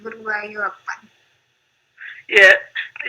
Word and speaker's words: Appan: So in some states of South India, everything ends with an. That's the dialect. So instead of saying Guruvayur Appa, it is Guruvayur Appan.